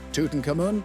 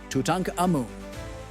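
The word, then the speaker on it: Tutankhamun: Tuten kamun is more like tutanka ammun with a breathy catch from the back of the throat.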